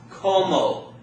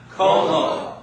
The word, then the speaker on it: como: The next word also ends in a vowel, so it's going to be pronounced como. Everybody say it out loud. Como.